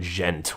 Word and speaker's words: djent: metal genre, or as some people call it, djent, which is spelled out D-J-E-N-T.